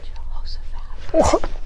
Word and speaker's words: Jehoshaphat: That's like five syllables. Jehoshaphat. Oh my goodness. I think it's four. Jehoshaphat. Yep, four. Wow, that's a long name. Jehoshaphat.